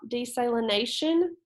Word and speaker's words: desalination: All right, so it wants us to read the following passages about desalination. I believe that's how we pronounce that. So it's like saline, if you've heard of saline, salt, okay?